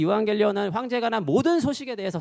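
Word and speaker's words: εὐαγγέλιον: 토 유앙겔리온인데 자, 유명한 애니메이션 에반게리온은 저 토 유앙겔리온의 에반게리움 독일어 발음을 일본어식으로 옮긴 거고요.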